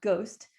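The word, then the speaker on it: GOSDT: decision trees are called it's pronounced ghost and it actually produces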